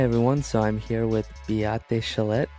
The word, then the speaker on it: Beate Chelette: So I am Beate Chellette. An excellent job on the pronunciation, Thank you.